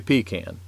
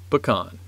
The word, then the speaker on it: pecan: and he said this son most people say pecan but us growers say pecan well there you go larry's other answer is